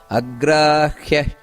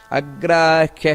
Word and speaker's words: ಅಗ್ರಾಹ್ಯ: ನೋಡಿ, ಇಲ್ಲಿ ಉಚ್ಚಾರಣೆಯಲ್ಲಿ ಗಮನಿಸಬೇಕಾದದ್ದೇನೆಂದರೆ, ಕೆಲವರು ಅಗ್ರಾಹ್ಯ ಅಂತ ಹೇಳ್ತಾರೆ. ಅಗ್ರಾಹ್ಯ ಶಾಶ್ವತ ಕೃಷ್ಣೋ, ಇದು ತಪ್ಪು. ಅಗ್ರಾಹ್ಯ ಅಲ್ಲ, ಅಗ್ರಾಹ್ಯ. ಖ್ಯ ಖ್ಯ ಅಂದರೆ ಹಕಾರ ಬರಬೇಕಲ್ಲಿ. ಇದನ್ನು ಗಮನಿಸಬೇಕು.